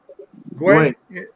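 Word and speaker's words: güey: Guay. That's like what was it, brother? Guay. Spanish. Way like, is kind of like dude or like no. Because it's also like a donkey, but it's also we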